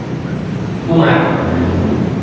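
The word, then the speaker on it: عمر: Kalau ada wawunya ini bacanya Amr, kalau ini tidak ada wawunya bacanya Umar. Nah, itu membedakan.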